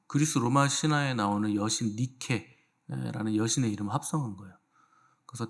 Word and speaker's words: 니케: 그래서 테살리아 니케 요걸 이제 합성해서 데살로니카 아 이렇게 붙은 건데 그 니케는 여러분들 잘 아는 여신입니다. 그 어 스포츠 브랜드 중에 나이키가 그 니케의 영어 발음이에요.